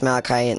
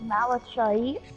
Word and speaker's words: malachite: 17 shadow shard, 106 malachite, and then 400 silver, and then all of this stuff. Yeah. Nice. I said it wrong, it's malachite.